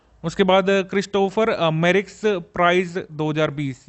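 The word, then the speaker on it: Christophe Mérieux: उसके बाद क्रिस्टोफर मेरिक्स prize 2020, ये साउथ अफ्रीका की HIV रिसर्चर कुरैशा अब्दुल करीम को मिला है। ठीक है। क्रिस्टोफ मेरिक्स प्राइज है इसका प्रोनाउंसिएशन।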